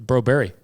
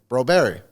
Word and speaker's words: Broberg: It's Broberry. Broberry. I never knew that cuz he never said anything. Mhm. Yeah, Berg in Swedish is apparently pronounced Berry.